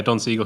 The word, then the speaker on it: Don Siegel: Is that how you pronounce it? Yeah, Don Siegel, who did the original.